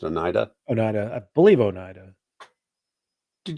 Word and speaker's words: Oneida: How you say it's pronounced? Oneida.